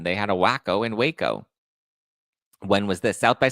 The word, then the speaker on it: Waco: why is she following Waco not wacko sorry wo wo Texas wacko